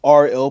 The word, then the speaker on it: R:IL: see results it's pronounced RL persona oh yeah you know like the the Italian word for the it's the names kind